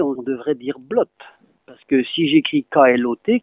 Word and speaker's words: blot: Logiquement, je le prononce comme KLOT, puisque BLOT et KLOT, ça va ensemble. KLOT se disant clotte, je prononce blotte, ben c'est faux. On prononce blotte.